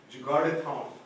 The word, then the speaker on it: Jugaadathon: And I really like so I'll take a couple of minutes, not too much, but I really like this Jugaadathon. Is that how you pronounce it?